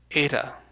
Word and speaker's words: eta: So, for instance, this Phoenician consonant heth, over here, became the Greek vowel eta, which makes a long E sound.